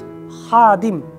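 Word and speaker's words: خادم: So the next word, which starts with ha, you have learned ha, now ha, ha, ha, with Arabic alphabet ha, ha, ha, and the word is khadim, khadim, khadim, khadim, khadim means servant, servant.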